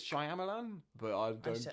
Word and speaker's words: Shyamalan: I think it's Shyamalan but I don't say Shyamalan Shyamalan I